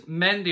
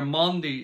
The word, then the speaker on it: Mendy: got for you guys mendy or monday is probably how it's supposed to be pronounced the center back from